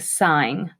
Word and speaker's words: sine: the sine function the sine function it's the shortcut is spelled sin don't call it sin it's a sign so the sine of